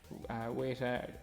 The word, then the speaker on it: Weta: Weta, I think that's how you pronounce it, Weta, W-E-T-A.